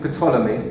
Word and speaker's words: Ptolemy: In the beginning, well, there's a Gemara in Megillah, Talmai HaMelech, King Ptolemy, that's how you pronounce it, wanted to translate the Torah.